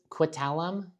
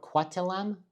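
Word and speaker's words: Coquitlam: Port Quit Quitalum Port Quatelam. Correct. Apologies for the mis pronunciation.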